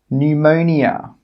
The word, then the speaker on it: pneumonia: The letter P is normally not pronounced when it's at the start of a word which starts with PN, PS, or PT. Some example words are pneumonia, psychology, pterodactyl.